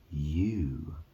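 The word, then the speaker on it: ewe: talking about female yeah e w is a female sheep that's pronounced U you just you know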